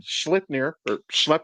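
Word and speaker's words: Sleipnir: So again, Schleipnir, I think is the proper pronunciation.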